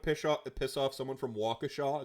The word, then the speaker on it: Waukesha: There's a bit of a if you want to piss, so Kicker, if you want to piss off someone from Waukesha, it's pronounced Waukesha.